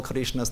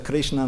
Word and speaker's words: Krishna: they actually don't call Krishna's name. They call Draupadi's name. Hare Rama, Lakshmi name. So it's difficult to pronounce Krishna Nam and Ram Nam. Don't overpronounce the A, otherwise it becomes female.